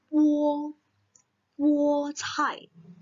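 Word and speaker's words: 菠菜: Ingat, B tidak keluar angin ya, jadi 菠菜.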